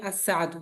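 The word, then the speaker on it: الساعة: আচ্ছা সবাই মনে রাখবেন, শুধু ঘড়ির উচ্চারণ করতে হবে যে আস-সাআতু, বুঝতে পারছেন?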